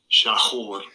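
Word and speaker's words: שָׁחֹר: Pronunciation. Strong's H 7838. Shachor.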